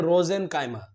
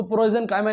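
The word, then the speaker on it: prosenchyma: पहला आपका क्या है, रोजेनकाइमा। बच्चे इसको प्रोजेनकाइमा नहीं पढ़ना है, हाँ यहाँ पी साइलेंट है।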